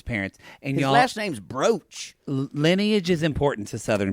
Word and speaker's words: Brooch: It's not even spelled like brooch, like a woman. No, it's weird. Like Broach. What's that mean? Rhymes with roach.